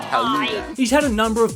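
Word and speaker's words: Gouda: And yes, it is pronounced Haluda.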